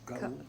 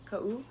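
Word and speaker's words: Kaʻū: Ka'u. Ka'u.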